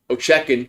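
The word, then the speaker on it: Ovechkin: Ochekin. I know him. That's how you pronounce his name.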